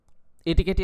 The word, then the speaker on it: etiquette: এটিকেটই আসলে শুদ্ধ উচ্চারণ, ইটিকেট না।